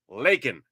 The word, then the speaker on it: Laken: want to talk about Lincoln Riley it's like dude no not Lincoln okay she's not named after a president during the Civil War right Laken leak L A Ken